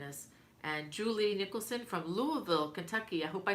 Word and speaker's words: Louisville: And Julie Nicholson from Louisville, Kentucky. I hope I said it right. It's Louisville, right? I know a lot of people say Louisville, but they're wrong.